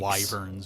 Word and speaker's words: Wyvern: me, wyverns, yeah.